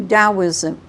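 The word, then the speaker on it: Taoism: isn't that good now when you do dosm dow yeah even though it's t AO but it's not pronounced DM dosm and what are the three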